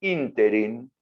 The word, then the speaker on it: ínterin: En ese ínterin, con acento en la I, cuando se sanciona la